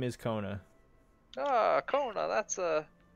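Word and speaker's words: Kkona: Double K O N A. What was the first K? What was that for? Yeah, well, if you need to know, you'll know. As silent as he is.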